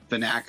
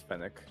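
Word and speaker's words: Phenac: Fanac, or however you say it. Fennec. It's Fennec. Fennec.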